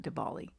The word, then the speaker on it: Diwali: I don't know if it's pronounced Diwali. I think it's Diwali, not Diwali. It's Diwali. And all of a sudden